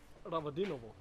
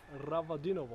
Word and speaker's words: Ravadinovo: Michael, how do you pronounce the name of this place? Ravadinovo. Ranadinov. Ravadinovo.